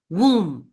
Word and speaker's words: womb: it it sounds so weird so com Thum womb womb is the mother's womb you know where